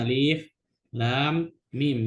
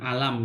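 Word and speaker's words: الم: Cara bacanya makanya Alif Lam Mim, bukan alam gitu.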